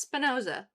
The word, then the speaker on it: Spinoza: Tonight was Spinosa. Is that how it's pronounced? Spinosa. Spinosa. Yeah, it's Spinoza.